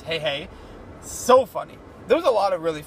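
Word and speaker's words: Heihei: to see that also the rooster I think was called hey hey that's how they pronounced it cuz it wasn't sure if it was hehehe or hey the movie obviously clarified its hey hey so funny there was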